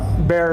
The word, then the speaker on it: Bexar: Bear is spelled B-E-X-A-R because, of course, that is all about San Antonio right there.